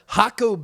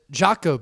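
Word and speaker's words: Jacó: I'm staying near Hakaco Beach. I used to pronounce it Jaco Beach, but I got that wrong. I sounded like a tourist, but now that I've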